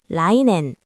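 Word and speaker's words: 来年: 음독 낸을 사용해서 내년은 라이앤.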